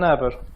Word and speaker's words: naber: No problem, you can say it, but it's easier and it's more practical to say naber. Ne haber? Ne haber? Instead ne haber? Yes, instead of E, like you that. just use A without H.